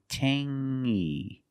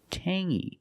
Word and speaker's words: tangy: We have the same sound. It's the nasal sound only. Tangy. Tangy. It's not tangy. It's tangy.